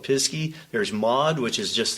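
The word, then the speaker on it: Pisgah: There's Pisky, which looks like it's spelled Pisca, but the locals call it Pisky.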